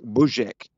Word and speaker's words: Buzek: sound like yeah it it's supposed to sound like buek and it's you've got